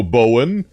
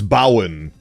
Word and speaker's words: Bowen: My full name's Bowenthius, but you can go Bowen or Bow. All of those are acceptable. I, unfortunately, while crafting my identity, failed to realize that on the British Isles, they actually pronounce Bowen as Bowen.